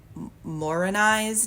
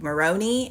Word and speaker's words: Morini: Like the moment when Mr. Reed mispronounced Angel Morini's name because I think he says like Moroni and they're like Morini.